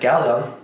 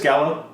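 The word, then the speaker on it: Galo: one of the things that he tells, especially like our main protagonist, Galleon. I hope I pronounced his name right. Yeah, it's just Gallo.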